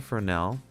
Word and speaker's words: Fresnel: It's pronounced Fresnel though.